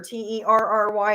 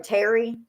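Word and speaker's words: Tari: of them's names is terry but it's spelled t-a-r-i i instead of like t-e-r-i or t-e-r-r-y it's t-a-r-i um so it's like terry like literally terry and then um i'm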